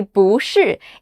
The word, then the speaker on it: 不是: But when the word after it also has a falling tone, like 是, we change 不 to the second tone, 不, to make it flow better. So if you want to sound like you really know how to speak Chinese, make sure to say 不是 instead of 不是, even though it's the same word.